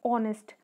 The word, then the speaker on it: honest: When we are saying honest, honest का spell H से start होता है बट एच जो है वो साइलेंट होता है तो हम उसको बोलते हैं ऑनेस्ट.